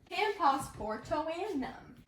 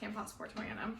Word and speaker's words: Camposportoanum: Camposportoanum. So this is Philodendron Camposportoanum. I know how to say it fast, Camposportoanum, but I just figured I'd say it slow